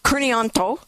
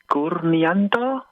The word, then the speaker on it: Kurnianto: Kneanto.